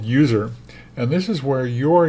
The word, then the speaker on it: usr: to the user folder there's no e in User it's USR and then finally the